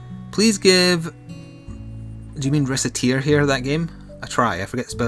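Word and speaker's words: Recettear: It's tear as in like crying.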